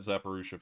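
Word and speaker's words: Zaporizhzhia: they'd pretty much be on their own um zappa russia uh oh okay thank you very much for uh clearing up how to pronounce that we'll call that zapparusha from now on um bmp3 looks huge it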